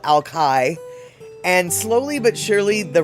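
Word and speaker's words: Alki: And it was the and at that time people did call it Ali Beach. Um and but the temperance movement i.e. no alcohol they started to specifically call it Alkai.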